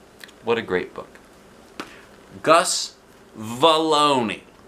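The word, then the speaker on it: Vallony: guess you know probably his name is probably pronounced baloney to rhyme with Bologna I'll say it like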